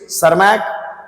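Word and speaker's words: Tschermak: व्यक्तियों ने ह्यूगो डे ब्रज सर्मक यहां टीस साइलेंट है एंड कॉरंस ने मिलकर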